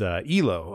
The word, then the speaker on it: Yloh: But Yloh, okay.